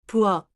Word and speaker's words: 부엌: At the end of a syllable, Korean allows only a small set of final sounds.